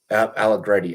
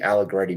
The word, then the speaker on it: Allegretti: Allegretti. Allegretti.